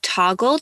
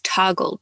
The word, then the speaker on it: Toggl: If you're working hourly for your clients, then I highly recommend using Toggle to keep track of the hours that you're working. This is spelled Toggl, and it's just basically a stopwatch,